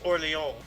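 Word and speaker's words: Orléans: relieve the siege of orleans uh the actual pronunciation is orleans so new orleans louisiana is actually new orleans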